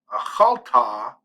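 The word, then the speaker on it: אָכַלְתְּ: I would take this tav shava, which by the way, this shava is silent.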